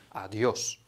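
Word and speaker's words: adiós: Uczulam Was, żebyście nie wymawiali tego adios, gdzieś tam w kreskówkach może tak się pojawiło, natomiast jedyną opcją poprawną wymowy jest adios.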